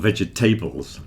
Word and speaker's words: vegetables: Vegetables. Come on, everybody knows that we don't pronounce the middle part of vegetables. It's certainly not vegetables.